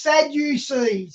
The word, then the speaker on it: Sadducees: Oh, it's pronounced Sadducees.